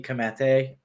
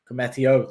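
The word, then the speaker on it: Koumetio: is because i think klopp views uh billy comete i think it i'm saying it right cometio there you go thank you chris um commetio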